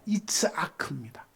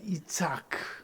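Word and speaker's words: יצחק: 여러분, 이삭이라는 이름을요, 히브리 원문으로 발음을 해보면 이츠아크입니다. 우리 주님이 세우시는 교회는 수준이 높은 교회니까 히브리 헬라어를 또 공부합니다. 한번 따라합시다. 이츠아크.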